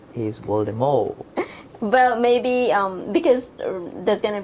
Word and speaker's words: Voldemort: And recently, J.K. Rowling said that Voldemort was pronounced Voldemort.